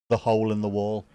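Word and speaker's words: Ye Hole in Ye Wall: Liverpool which is uh Yehole in Yeall which is not pronounced as Y to the the hole in the wall which is the oldest pub.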